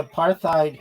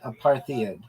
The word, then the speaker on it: apartheid: partid is not pronounced aparthadid because it's not an English word originally it comes from Africans And in that language, hide is pronounced like hate or height, not head or id.